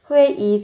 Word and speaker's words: 회의: nhưng, 지금 bây giờ, 회의 viết là ơi nhưng các bạn phát âm là y, 회의 중 có nghĩa là đang họp, 회의 중이다 mang nghĩa là đang trong cuộc họp.